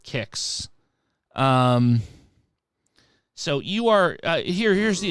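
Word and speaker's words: Qix: So this is Kicks, and I've always pronounced it Kicks.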